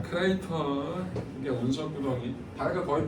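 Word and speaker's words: crater: 크라이를. 이따구로 발음할 줄 알았어. 자, 크레이터.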